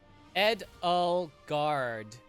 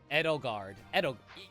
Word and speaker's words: Edelgard: Edelgard. That's how I pronounce it. Edelgard.